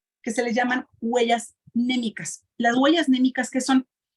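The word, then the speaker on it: mnémica: Huella anémica. Se escribe MN, huella anémica. ¿Okay? Bueno, la base de todo esto, pues prácticamente son estas que se les llaman huellas némicas.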